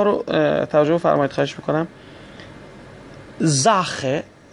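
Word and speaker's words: Sache: زاخه، ببینید بعد از اس آ اومده، پس اس باید ز تلفظ بشه. زاخه. از طرف دیگه آ قبل از سی ها یا همون سی اچ اومده، پس سی اچ رو هم اینجا باید خ بخونیم.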